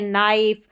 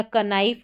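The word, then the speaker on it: knife: जैसे कि यह है नाइफ। यहां है नो और नी तो इसको कनाऊ या कनी या कनाइफ नहीं बोलते। के जो है इसका साउंड नहीं आता क के और एन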